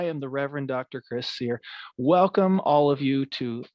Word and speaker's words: Suehr: i'm pastor chris sear my last name's pronounced seer like what you do to a steak but i usually just